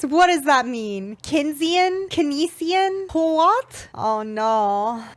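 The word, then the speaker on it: Keynesian: does that mean kinan kesian po oh no oh no kesian it PL pronounced like kinan economics economics is just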